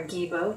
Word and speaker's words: Gebo: Gebo or Gibo, depending on which pronunciation you go with, or Gebo.